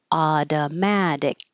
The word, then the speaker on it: automatic: This t changes to a d. And the final C at the end is a K sound that you won't release. Adamadic.